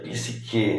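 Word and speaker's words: ψυχή: é a nossa alma PIS re em grego né que pronuncia pisque na linguagem aportuguesada então a terra ela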